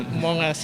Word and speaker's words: Among Us: Among Us. Among Us. Pronunciation-nya Among Us ya.